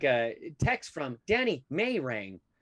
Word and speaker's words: Marang: They hit me with the Marang, Marange. Yeah. Is it Marange? And I'm like, I don't know. Are you brain dead? Because it's spelled out Marang, Marang.